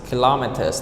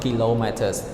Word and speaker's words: kilometers: in command called Guillemette but in English we did kilometers kilometers not kilometers long so the stress is on the second syllable kilometers kilometers it's seven